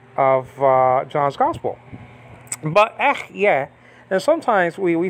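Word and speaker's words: אהיה: And sometimes we say ech, yeah, as English-speaking people, you know, because of the H at the end, which is silent. But, you know, sometimes we pronounce that, but it shouldn't be pronounced.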